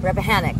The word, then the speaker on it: Rappahannock: Yeah, at Rappahannock. Wait, did I say it right? Rappahannock.